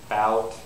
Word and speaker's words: bout: do it incorrectly okay listen for the first one bout bout that one was right okay bout is right okay I pronounced the W okay again bot bot that one was wrong I have no W I said bot but it should have been bout see my lips bout okay now for the